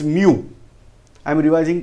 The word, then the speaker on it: mu: Now for micro, then this letter we are using, this is Greek alphabet, this is pronounced as mu.